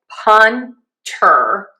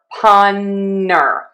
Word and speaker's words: punter: You can either say punter or punner with an N. You kind of drop that T. Either is fine.